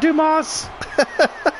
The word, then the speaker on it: Dumas: like come on Dumas even though the S is silent oh nice move by